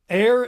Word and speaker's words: aer: Air is air, but it's spelled AER, as in Aer Lingus.